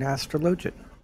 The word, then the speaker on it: Astrologian: and oreos they can heal because he's an astrologian or astrologer take your pick i don't really care but apparently it's correctly pronounced astrologian what is love what is live